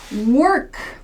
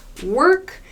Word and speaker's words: work: in american english work there's a clear r sound and this o is pronounced er work work w-a-l-k to